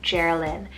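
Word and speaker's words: Jerilyn: the womb then i have geralyn about j-e-r-i-l-y-n geralyn and this one means pretty ruler with a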